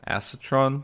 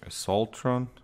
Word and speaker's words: Assaultron: the only hardest part was the acetron at the end or assaultron oh that's how you pronounce it so um and